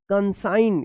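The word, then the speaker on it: consign: एस आई जी एन कंसाइन क्या पढ़ेंगे कंसाइन साइन पढ़ा जाएगा। तो इस तरह से जो है आप एन से पहले अगर जी आता है तो जी का उच्चारण नहीं होगा।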